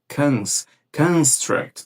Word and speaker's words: construct: Ele dá ênfase aqui na primeira sílaba, que é o cons. Cons construct, tá? Por isso que ela é um substantivo. Atenção, porque caso a ênfase esteja na segunda sílaba dessa palavra, né, construct, construct, ela já vira um verbo que quer dizer construir.